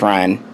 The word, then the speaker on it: Rian: his name Rianne Johnson I thought it was rien onsen for a bit but once I realized hey it's Ryan okay that's his name